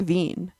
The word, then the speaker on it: Wien: the origin of the word wiener Vienna is pronounced like ven in German so Vienna is the capital of